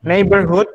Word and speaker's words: neighborhood: Neighborhood itu kalau neighbor and ini baca nei bukan neig ya. GH-nya seperti hilang. Nei aja. Neighbor, O baca E. Neighborhood. Ini double O bacanya O. Neighborhood.